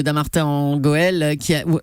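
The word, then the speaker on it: Dammartin-en-Goële: Hier, François Hollande inaugurait la nouvelle imprimerie de Dammartin en Goël où avaient été abattus, on dit bien ça, hein, oui, ça se prononce comme ça.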